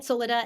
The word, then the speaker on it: Soledad: i pronouncing that right soledad yeah soledad solida anything yeah you know people it's really well it's spanish so it's my full name